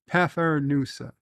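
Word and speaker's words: Pfeffernüsse: In German, it would be said as Pfeffernusse. So I wasn't that far off. And in English, Pfeffernusse. Pfeffernusse.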